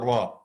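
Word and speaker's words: ر: FRA is quite easy the tip of the tongue with the gums of the two top front teeth after the massive noon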